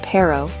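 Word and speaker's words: perro: The word pero, which means dog, uses this rolled R sound.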